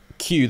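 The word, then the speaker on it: queue: I was today years old when I found out that Q, the word Q is just, okay, so Q, Q-U-E-U-E, is just a Q, the letter, followed by four silent letters.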